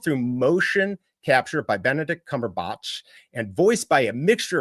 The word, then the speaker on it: Cumberbatch: It's Cumberbatch. Isn't that what I said? Cumberbatch. I said Cumberbatch. I thought it actually was Cumberbach. I thought it was Cumberbatch. It is batch, but I I can